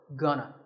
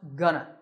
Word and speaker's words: gonna: Alright, so let's start with the first word, gonna. Gonna is a reduction of going to, and it's used when we talk about the future. Notice that it's not gonna, it's pronounced gonna.